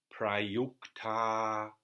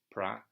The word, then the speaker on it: prayukta: And pra again, short syllable. Prayukta yoge tu. Again, so it's one short syllable. Prayukta yoge tu. The tu is long because it's got a double consonant.